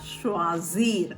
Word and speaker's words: choisir: Second குரூப்பில் இன்னைக்கு நம்ம படிக்க போகிற வேர்ப் என்ன அப்படின்னு சொல்லிட்டு பார்த்தா ஷ்வாசீர் அப்படின்றது. ஷ்வாசீர் அப்படின்னா டு சூஸ், தேர்ந்தெடுத்தல் அப்படின்னு சொல்லுவோம்ல, அதான் மீனிங். ஷ்வாசீர் கொஞ்சம் ப்ரொனவுன்ஸ் பண்ண கஷ்டமாக இருக்கும்.